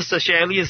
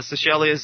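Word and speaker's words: Seychelles: were a soccer team they went to the sashelas islands uh sashelas is spelled uh s y c h l l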